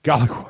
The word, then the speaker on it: Gallic: But anyway, so the Gaelic Wars, Gallic Wars? Yeah. Okay, Gallic Wars.